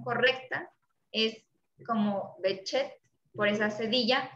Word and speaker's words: Behçet: que digan porque se debe decir enfermedad de behçet a por qué el enlace y es en una palabra turca entonces él pronuncia la pronunciación correcta es como bechet por esa sevilla y no es exactamente la